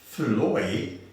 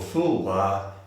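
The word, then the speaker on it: Foulois: in the united states his name is pronounced as fuloi in america or full bar in france bendy brennan was born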